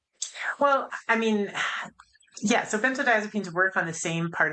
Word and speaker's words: benzodiazepines: understand and that is and I have trouble pronouncing it benzo so benzo diazepines.